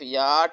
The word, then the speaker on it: yacht: CH यहाँ पर silent है और टी टे की आवाज़ देगा। लफ्ज़ बन जाएगा हमारे पास ये अलिफ याट ए मकूफ़ी याट।